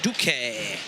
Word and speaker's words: Duk: Duk. Not to be confused with the northern pronunciation of ducky, but it's duk.